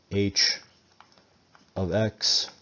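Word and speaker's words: h(x): This is pronounced h of x.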